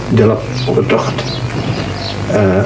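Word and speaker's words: Dilowa Hutagt: The proper pronunciation of his name is Dilop Otocht, and that contains his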